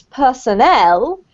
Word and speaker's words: personnel: but in this case personnel with the emphasis on the last syllable is the same as